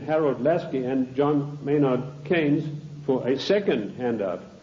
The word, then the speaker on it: Keynes: they said john maynard keynes or keynes he said Keynes was a better word because it arrived with rhymes with brains and this is a